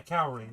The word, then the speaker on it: Kaori: Cowrie? Yeah, Cowrie, that is the correct name.